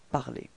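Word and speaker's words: parlé: se terminent en ER, vous devrez enlever le ER final et le remplacer par un E accent aigu qu'on prononce E. Phonétiquement, vous obtenez exactement la même chose, puisque l'infinitif c'est parler dans cet exemple, et le participe passé est prononcé parler.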